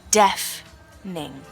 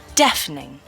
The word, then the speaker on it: deafening: could say it's deafening the pronunciation is death ning deafening one more time deafening could